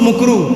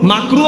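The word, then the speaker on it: مكروه: করবেন জর্দা খাওয়া মুকু মুকরু মাকরুহ বলতে পারে না মুকরু সঠিক উচ্চারণ কি মাকরুহ অপছন্দনীয় মাকরুহ বলতে পারে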